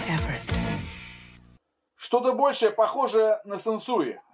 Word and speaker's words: Sansui: Сансуи. Сансуи. Сансуи. Сансуи. А теперь обратимся к историческим моментам и послушаем, как тогда произносилось ее название.